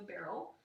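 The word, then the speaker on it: beryl: is similar in that it is also a barrel and so that's why i wanted to follow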